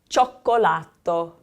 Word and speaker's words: cioccolato: Cioccolato. Cioccolato. So that I-O sounds like cho, cho. Cioccolato.